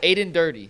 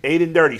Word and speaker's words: Aden Durde: And Earl says it's dirty, like dirty. How it's pronounced. Yeah. So Aden Durde. Aden Durde.